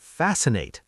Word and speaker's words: fascinate: Also, don't forget fascinate. That C in the middle is silent.